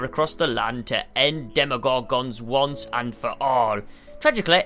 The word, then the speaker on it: Demogorgon: Demogorgon. I think that's the first time we've pronounced his name correctly, to be fair.